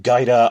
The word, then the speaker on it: Gaeta: on the west coast I think it's past gyda I say Gaeta isn't using the older pronunciation but whatever so they're